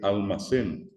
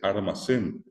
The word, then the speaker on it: almacén: A mucha gente le cuesta decir almacén. ¿Por qué? Porque la L no es tampoco guaraní, y mucho menos la L como final de una sílaba, ¿verdad? Y allí tienen ustedes que mucha gente en vez de decir almacén dice armacén, o en vez de decir alquiler dice alquiler.